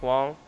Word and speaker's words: Wang: no, I think Mike Wang tweeted it out, or Mike Wong, that's how you say his name, Mike Wong.